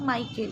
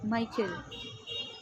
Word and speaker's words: Michael: C will be pronounced as a K.